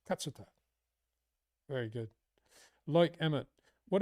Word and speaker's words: Katsuta: And I learnt that his pronunciation is Katsuta. It's not Katsuta. It's Katsuta.